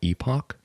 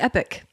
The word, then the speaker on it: Epoch: Is that not Epoch? well, that's how the locals pronounce it. Epoch? They pronounce it correctly? You were pronouncing... They pronounce it Epic. That's wrong.